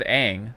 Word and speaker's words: Aang: It looks like, I don't know, but it is with Aang, so obviously it's not it's not brand new. You're pronouncing his name wrong. It's pronounced Aang. Yeah, according to M. Night Shyamalan.